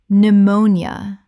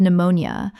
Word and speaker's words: pneumonia: n y t knight Word 179 pneumonia Common mispronunciation p-neumonia Correct pronunciation pneumonia Three syllables in natural speech. The p is completely silent and the nia collapses. Example He was hospitalized with pneumonia but responded well to treatment and was discharged after 5 days.